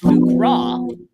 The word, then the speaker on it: Fukra: It's actually pronounced Fukra, which is from the Fukra region of ether space.